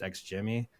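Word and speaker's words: XGIMI: It's got a funny looking name, but it's pronounced X Jimmy.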